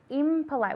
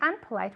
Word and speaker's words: impolite: It's impolite. We don't say unpolite, we say impolite.